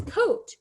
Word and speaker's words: coat: The letters OA are a vowel team. The first letter says its name, while the second letter is silent. Look at the word at the bottom. The word is coat. Do you notice that there's a long O sound, right? But there's an A next to it. That A is silent.